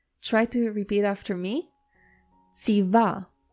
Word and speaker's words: ציווה: It may be a little bit difficult to pronounce because you don't really have a word in English that starts with this ц sound. You have words like pizza or cats. So you do have this sound, ц, but now try to say this sound at the beginning of the word.